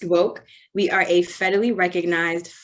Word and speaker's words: WOCC: in cannabis that is w-o-c-c pronounced woke we are a federally